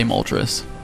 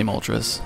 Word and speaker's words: Moltres: lot of people how do you say Moltres I say Moltres I know a lot of people say Moltres and they get it it is the Spanish word for three but if you wanted